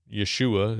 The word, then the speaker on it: Yeshua: who themselves Jewish, but believers in Yeshua is what they would say, right? That's really how you would say his name.